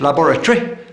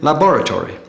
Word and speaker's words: laboratory: Where the English say cemetery, the Americans have cemetery. English laboratory, American laboratory.